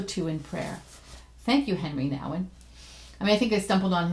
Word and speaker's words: Henri Nouwen: on his name because sometimes I I call him by his French pronunciation nation right I'll renew one and other times just say Henry now and people you can say it both ways what do you think